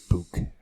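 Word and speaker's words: BYK: And you also may want to consult with the people from BIC, which in Germany it's actually pronounced Book.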